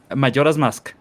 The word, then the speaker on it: Majora's Mask: How pronounce that title? Majora's Mask.